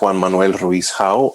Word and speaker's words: Juan Manuel Ruiz-Hau: Again, my name is Juan Manuel Ruiz-Hau. Although you butchered my name, that's all right.